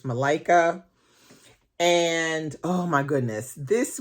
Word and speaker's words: Malika: seed by Malika Booker I think that's how she pronounces the name it's Malaika and oh my goodness